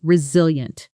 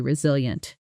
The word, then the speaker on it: resilient: After everything the team went through this year, he's remained remarkably resilient. Say it with me. He's remained remarkably resilient. Notice the stress, resilient. The strongest beat falls on the second syllable.